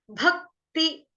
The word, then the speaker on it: भक्ति: बाद आधा क, भक, भक्ति, भक्ति, त के साथ है छोटी की मात्रा, त कौन सा, तरबूज वाला, टमाटर वाला नहीं है, भक्ति, उसके आगे है